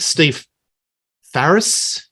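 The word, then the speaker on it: Steve Farris: And I think Steve Ferris, that's how you pronounce it, he's got the best lead break off the whole album.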